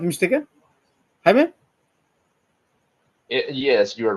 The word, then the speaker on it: Jaime: If I'm not mistaken, Jaime. Yes, you're right. That's the pronunciation of my name.